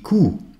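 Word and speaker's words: Kuh: est longue qui court la vache dit cou qui se prononce avec un ou long vos habitudes très bien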